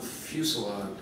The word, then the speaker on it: fusillade: And what had been the occasional pebble tossed our way became a full-on fusillade. Lori, how do you pronounce that word?